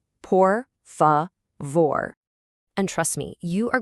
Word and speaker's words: por favor: Let's make sure we get the pronunciation right. Por favor.